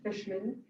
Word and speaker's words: Fishman: fishman l-o-r-e-n i believe lauren fishman spelled like a compound word fish and man the animal fish man did a lot